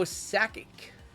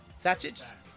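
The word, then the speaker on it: Sakic: We've got Joe Sackic. Are you going to correct me on that? Did I say it right? JML Sackic. Satchic.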